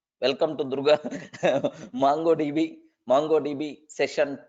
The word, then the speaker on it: MongoDB: Okay, it is not mango. Okay, because mango is more popular than Mongo. So most of the people, even myself also, sometimes maybe earlier I pronounced mango DB. No, it is the Mongo DB, right?